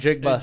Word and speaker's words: Njigba: Njigba. Smith and Njigba.